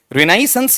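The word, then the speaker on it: Renaissance: देखो देखें बताओ इसका उच्चारण ड्रेनेस है या फिर रेनाइसेंस हां रेनाइसेंस ह्यूमनिज्म यह जो चीज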